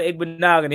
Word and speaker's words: Igbinoghene: He said you pronounce that name with ease. Appreciate it. Yeah, Noah Igbinoghene.